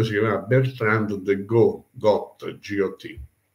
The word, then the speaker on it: Got: Clemente V si chiamava Bertrand de Got, G-O-T. La consonante in francese finale non si pronuncia.